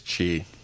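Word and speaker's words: Qi: do you say it I believe it's Chi yeah it's Chi right they have a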